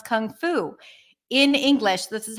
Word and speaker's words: Kung Fu: how you pronounce it you start with a C Sound then it's the uh as in cup c c c which is like a schwap but it's more stressed and the mouth is